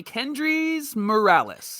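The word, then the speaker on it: Kendrys Morales: that you would know johnny kendrick's morales kendrice morales aka formerly known as kendri morales remember that how he was kendriffer and they got his name wrong when he came over so he's actually kendricks morales now he's not two people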